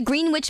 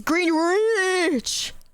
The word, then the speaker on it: Greenwich: There's like a W and an and an E, so it's Greenwich.